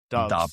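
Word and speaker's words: Doubs: I am going to go, is it Romeo Dobbs or Daubs? How is he Romeo pronounced? Dobbs.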